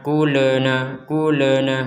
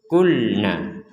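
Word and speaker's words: قلنا: Jadi jangan dibaca kulena, jadi harus dibaca tetap dibaca tidak pantulan. Kulna, wa idz kulna, kemudian huruf dal, wa idz kulna dkhulu.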